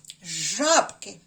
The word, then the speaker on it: жабки: спробуйте без моєї підказки слово жабки жабки правильно на першому складі жаб на звуки а в жабки А ось